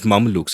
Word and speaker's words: Mameluke: So she gets rid of the son and then she marries, her head slave, or not exactly a slave, these Mamelukes. Am I pronouncing that right?